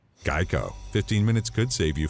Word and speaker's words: GEICO: He was originally created because people kept mispronouncing the company name as Gecko instead of Geico.